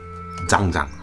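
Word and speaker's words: Zhan Zhuang: So today we're going to do some standing posts, some zhangzhang. That's the correct way to pronounce it.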